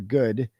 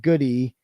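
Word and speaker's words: Goode: the officer calling for good because she pronounced it goody how it's spelled, but it's pronounced good."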